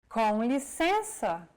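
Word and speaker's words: com licença: nasal cavity and out through the nose imagine you're humming with your mouth open and add the E vowel sound to it and now you try and again and all together it's Conley sensor on a daily basis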